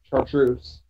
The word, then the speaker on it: Chartreuse: If somebody watches that and gives me a pronunciation. Chartreuse.